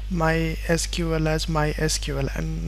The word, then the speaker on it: MySQL: they had mentioned that the correct way of pronouncing this is MySQL so this is the